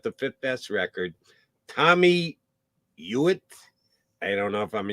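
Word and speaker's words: Hughitt: pronouncing don't even know Tommy uitt I know guy h u g h TT that's a weird spelling of uitt but that's how I pronounce it uitt he again 1920 to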